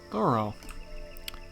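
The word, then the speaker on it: Thoreau: so interested in the finer fruits of thought thorough okay that's how you pronounce it henry there you are good afternoon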